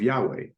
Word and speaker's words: Yahweh: book of Exodus, obviously Jehovah is the anglicized or anglophile pronunciation of of Yahweh, and Ah, Yahweh yes. is the Hebrew pronunciation of the Tetragrammaton, or HWH in the Latin alphabet.